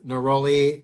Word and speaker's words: neroli: It's neroli.